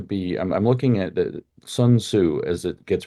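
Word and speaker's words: Sun Tzu: solution has to be I'm looking at the son Su as it gets pronounced uh who wrote The Art of War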